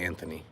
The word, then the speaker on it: Anthony: So yes, I definitely say the TH, so I say Anthony.